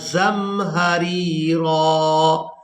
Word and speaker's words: زمہریرا: فیہا شمسا ولا زمہریرا۔ اس لفظ کے ہجے اس طرح سے کریں گے، زا میم زبر زم، ہا زبر ہا، زم ہا، را یا زیر ری، زم ہاری، را الف زبر را، وقف کی وجہ سے را پر ایک زبر ادا